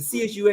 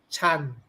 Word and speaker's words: Chun: is spelled CHUN and CHUN is not pronounced Zhan Chun. Ho. Zhan Ho Lei Ho. It's not pronounced Chun, it's pronounced, the UN is pronounced An, so it's Chan.